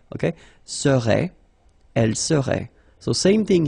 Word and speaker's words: serait: seriez, il serait, elle serait. Okay, so we'll see that one more time. Je serais, same thing here, final S not pronounced. Tu serais, final S not pronounced. Il serait, final T not pronounced.